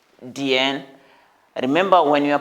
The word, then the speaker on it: 点: 点点点, because it has third tone. 点.